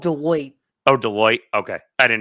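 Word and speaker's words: Deloitte: company, but she doesn't have It's called Deote. Oh, Deote. Okay. I didn't know how to pronounce it, but um she doesn't really have a background in this stuff whatsoever.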